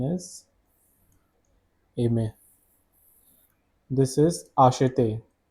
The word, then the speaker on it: acheter: This is acheter. Acheter is the pronunciation of this verb, which means to buy.